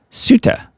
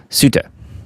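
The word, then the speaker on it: Ceuta: Suta, that's how I'm going to pronounce it. I think that's correct. Around 60,000 migrants poured into the Spanish territory of Suta in a period of under 24 hours from Thursday to Friday.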